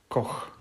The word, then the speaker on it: Koch: So here is how to pronounce his name straight from Radim Verbata. Patrick Koch. Just as we all thought.